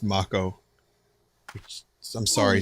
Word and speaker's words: Mako: It's pronounced Mako.